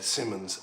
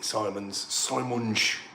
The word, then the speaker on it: Simons: just seeing Xavi there, Simmons, and I'd like to see Simons, as they actually pronounce it in the original Dutch.